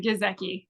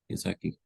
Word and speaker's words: Giesecke: gr Canan University head woman's golf Co is that did I pronounce that correctly or how would you pronounce your last name yes H gizi gizi how are you doing good good doing well